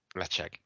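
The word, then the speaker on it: Ledaig: theirs recently, so I know it is sp pronounced Leche. Um, this Heroes and Heretics Smoke and Glory release showcases Petered Spirit called Leche produced at Tobamari distillery on the aisle of Mull.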